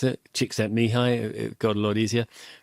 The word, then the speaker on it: Csikszentmihalyi: There's that great researcher Csikszentmihalyi, clusters of consonants, long clusters of consonants in his name. But actually, it's quite, when somebody taught me how to pronounce it, Csikszentmihalyi, it got a lot easier.